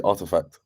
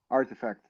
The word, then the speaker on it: RTFKT: Who can pronounce it? RTFK or RTFTK? David, you work at Nike. You should know. It's actually Artifact, I believe. Artifact. See, that's a lot easier to remember.